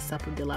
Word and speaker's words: Sapodilla: Yeah, the man said Sapodillo. I was like, Sapodilla. I was like, oh, you guys pronounce the L's.